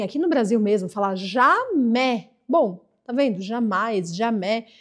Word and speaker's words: jamais: 18ª Jam Jé nunca Cuidado para não falar Gé porque Gé é outra coisa agora você talvez você tem ouvido alguém aqui no Brasil mesmo falar jamé bom tá vendo jamais